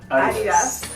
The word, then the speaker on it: Adidas: Anyway, UK, you say Adidas. You stress A. In America, you stress I.